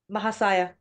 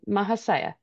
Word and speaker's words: Mahasaya: Mahashaya or Maha? Mahas Mahasaya. Okay, Mahasaya. Okay. I've heard other pronunciations, and so I got confused.